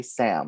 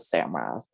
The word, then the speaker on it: Samrath: I was, having to explain how do I pronounce my name 10 times over, correcting people, and they would just say Sam instead of Samrath, and dealing with all those little things.